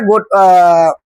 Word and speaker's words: gotta: যখন এই টিটা দুই পাশে ভাওয়েল আসে তখন টি সাউন্ডটা ডা উচ্চারণ হয়, যেমন ব্যাটার, ওয়াটার।